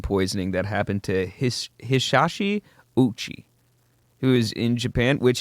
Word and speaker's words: Ouchi: that happened to Hisashi Ouchi, who is in Japan, which his last name is spelled sorry, I was about to say zero. I'm a fucking idiot. Ouchi, which is basically ouchie.